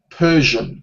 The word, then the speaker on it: Persian: it's Parisian perisian perisian yeah we have perisian and then we have also Persian Persian it's from Persia you know we slightly pronounce it differently uh which is from Iran but this is perisian perisian is person from Paris all right world readed